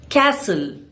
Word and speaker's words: castle: Castle. Here the T is silent.